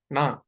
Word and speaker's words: ण: ट ठ ड ढ ण ण कैसे बोलना है जहां पे ट ठ ड ढ आप बोल रहे हो वहीं पे ण बोलिए ट ठ ड ढ ण वहीं पे जीवा को रखिए तो आप ण का